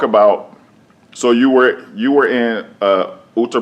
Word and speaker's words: Uttar Pradesh: So you were in Uttar Pradesh.